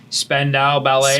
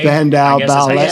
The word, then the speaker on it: Spandau Ballet: Spandau Ballet. Spandau Ballet.